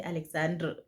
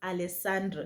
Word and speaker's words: Alessandro: And this was I don't want to say Alexandro. It's Alessandro. Yeah, they pronounce it Alessandro.